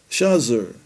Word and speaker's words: Shazer: It is a collective meaning trees and many Arabs especially in Egypt pronounce it shazer which is the ancient shagger written s e g o r in the sixth century.